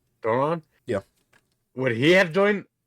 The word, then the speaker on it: Doran: Duran? Doran. Doran?